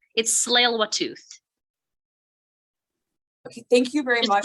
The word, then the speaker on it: Tsleil-Waututh: When you do the territorial land acknowledgement, it's Tsleil-Waututh. Okay, thank you very much for the pronunciation.